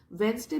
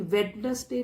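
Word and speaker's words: Wednesday: वेंसडे में डी को silent रखते हैं, इसको नहीं, वेडनेसडे नहीं बोलते हैं, वेंसडे बोलते हैं।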